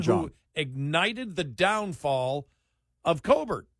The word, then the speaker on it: Colbert: ignited the downfall of Colbert. Colbert. That's actually his name. Colbert he pronounces it Colbert Colbert, for the yeah.